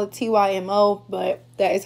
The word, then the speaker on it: TYMO: I call it TYMO, but that is how you pronounce it.